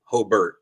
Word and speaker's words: Hobart: Oh, Hobbert, let me say it correctly.